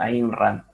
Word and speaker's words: Ayn Rand: fecha sobre alisa si no lleva razón la pronunciación es más bien conocida como imran si para arrancar les voy a dar un